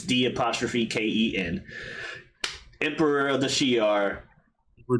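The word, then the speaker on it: D'Ken: or Deacon, however you pronounce his name. It's D''Ken.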